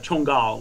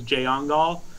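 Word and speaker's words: Jongal: different languages is uh chungal which is spelled j o n g a l so in English it looks like says jangal uh it means scorpion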